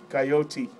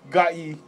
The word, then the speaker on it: Gotye: Well, how do you pronounce that, Phillip from Galt? Gotye. Good. Close. Try again. Gotye.